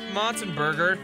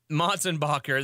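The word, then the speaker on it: Motsenbocker: Coming to Albuquerque May 1st at the Lobo Theater, Tyson Motzenberger, Tylen Motzentackle, Tyson Mulber Tackle. No. Hey, Daniel. Yeah. What's this? How do you pronounce this guy's name? Motzenbacher. Motzenbacher, that's right.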